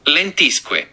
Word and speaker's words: Lentisque: That's I need the pronunciation because let me just do that first. All right. Let me get the pronunciation. Here we go. Lentisque. Oh, you were right.